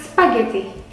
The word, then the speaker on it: spaghetti: Nah, kita punya spaghetti. How you say spaghetti? Spaghetti. Double T. Yeah, and in the H and G, you have no pressure on that.